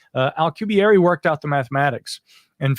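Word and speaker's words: Alcubierre: 1990s Miguel Al alary I believe is how he pronounces it alary worked out the mathematics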